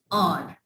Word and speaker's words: hour: Like HOUR, घंटा, वक्त. ठीक है, तो हम इसको hour तो प्रोनाउंस नहीं कर देना. It's or. We take start from a vowel sound.